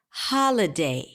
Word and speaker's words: holiday: one so in the word holiday the primary stress falls on the first syllable ha hauh holiday right so it has this emphasis there continue the primary